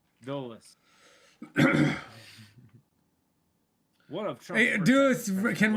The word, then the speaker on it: Dulles: It's not Dallas. It's Dulles.